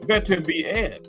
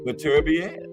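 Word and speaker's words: Beterbiev: The ring announcer said Better Be Air, right?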